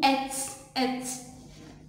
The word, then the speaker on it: êtes: m vous êtes dit on dit vous êtes et deuxième terme es ne se prononcent pas vous êtes la lisant